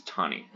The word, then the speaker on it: Taney: It's not pronounced Taney, it's Taney.